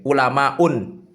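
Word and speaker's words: علماء: alif taknis mamdud maka cara bacanya bukan ulamaun tapi ulama u tanpa tanwin itu.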